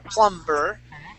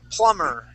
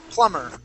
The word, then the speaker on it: plumber: here please yeah it's plumber good good yes the B the B is silent uh the word is not we do not say plumber the word is plumber plumber plumber okay now uh